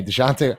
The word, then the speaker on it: Dejounte: Hey, DeJounte. I learned how to pronounce his name too. It's DeJounte Murray.